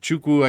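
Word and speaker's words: Nwachukwu: and chukwu or uh chukwu I guess is how you pronounce it don't say the end um 2.59 points a minute for chuku 81.73 is all he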